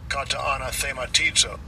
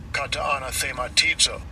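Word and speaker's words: καταναθεματίζω: Kataanathematizo. Kataanathematizo. All right, so it's got a couple of pronunciations there.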